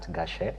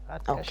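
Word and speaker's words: Gache: So um one uh on social media you can reach me at on Twitter it's gash uh you can spell that for us please g a c h e yeah gash you find me on Twitter or x sorry x as they say nowadays.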